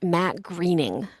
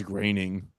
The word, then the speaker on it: Groening: Matt Groening, spelled Groening, but it's pronounced Matt Greening. I thought it was graining.